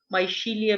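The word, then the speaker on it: Michelia: है, उसकी एग्जांपल है माइचीलिया. इसके अलग अलग प्रोनाउंसिएशन है, माइशीलिया भी बोल देते हैं, माइचीलिया.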